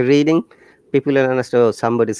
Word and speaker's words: Reading: we're reading that's right reading because red is read is the verb in this case if you say reading people will understand oh